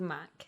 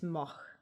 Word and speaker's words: Mack: m-a-c okay okay yeah so mac yeah but then if you say in german it's moch yeah pretty much i